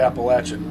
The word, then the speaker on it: Appalachia: Closer to the Appalachian Ridge. Appalachia is the correct Native American pronunciation. Why it's spelled Appalachia, I have no idea.